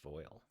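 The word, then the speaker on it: voile: light translucent cotton fabric voil it's pronounced foil never heard of it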